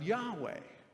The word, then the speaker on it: Yahweh: l o r d reflecting it's sometimes pronounced this way in the hebrew bible yahweh yahweh the covenant name for